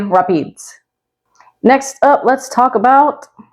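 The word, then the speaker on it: Rapides: So it's spelled like this, and you might be tempted to pronounce it Rap-eeds, but locals say Rap-eeds.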